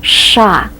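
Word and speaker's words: ш: first one here is the letter sha that gives us a strong and a very pronounced s sound sh sh and yes in the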